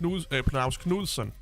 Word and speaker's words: Knudsen: It's actually pronounced Knudsen. Not Knudsen. Knudsen, it's a Scandinavian noun, it's Knudsen. Frederik Knudsen is how we pronounce it in Danish. And kind of the same in Norwegian and Swedish to some extent.